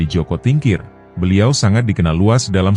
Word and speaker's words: Joko Tingkir: Jaka Tingkir atau dalam pelafalan bahasa Jawa menjadi Joko Tingkir, beliau sangat dikenal luas dalam sejarah Nusantara.